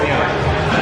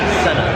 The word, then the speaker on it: Senna: Is it a Senna or a Sienna? Senna. It's a Senna.